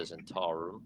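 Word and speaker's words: Zhentarim: Zentarum, not Zentar.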